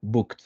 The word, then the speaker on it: booked: Entonces, un ejemplo, tenemos decided, que ahí sí pronunciamos la E, y tenemos en la tercera línea booked, que ahí no pronunciamos la E, solo golpeamos un poquito con la D al final.